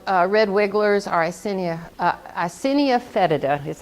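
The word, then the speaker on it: Eisenia fetida: composting earthworms are called red wigglers or assinia icinia fetida is how you say that yes ma'am they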